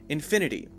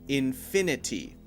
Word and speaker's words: infinity: word infinity infinity infinity one thing that can make it a little easier is to change that sound to a light D sound so instead of saying infinity infinity infinity we can say infinity infinity infinity so there's sort of a light D sound there instead of a t sound and instead of saying